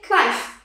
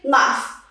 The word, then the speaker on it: knife: Okay, so it's here, most of the people who don't know really the silent letters, they would say knife. No, it's not correct. We say knife.